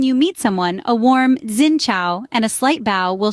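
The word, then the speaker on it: Xin chào: greet each other with a polite zinow pronounced Singa accompanied by a slight bow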